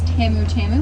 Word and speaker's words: tamu tamu: In Swahili, if you put the two words together, just put emphasis on the second word. Just like there is tamu tamu, which is back out in the village, which does mean sweet, sweet, or very sweet.